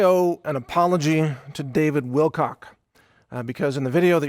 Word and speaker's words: Wilcock: some pretty major issues I inadvertently mispronounce his name multiple times and instead of trying to rerecord the whole thing because it was a it was really an off-the-cuff analysis that I think is very solid I'm just issuing this apology up front I'm I'm sorry mr. Wilcox I actually pronounce your name David Wilcox I'm sure that he's